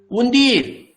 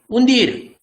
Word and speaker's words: undir: Undir. This UN become and D-I-R become dir. Undir.